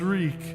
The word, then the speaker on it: Reek: mouth opened and closed my name is reek it rhymes with leak